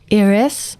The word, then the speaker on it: Yris: Dirk debule debule he Irisnya enggak pakai I loh Y R I S dan gua waktu itu kaget ya Bang karena yang bisa pronounce nama gua asli dari tulisan itu cuma orang Prancis. Jadi ternyata di Prancis tuh Y itu sebenarnya dibacanya tuh I.